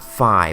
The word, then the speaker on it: Fi: Yes, I pronounce it as Fee and not Fi, but does that really affect anything? I believe not, as remember guys, Zelda games are created first in a completely other language, so pronunciations in this language are very much up to interpretation.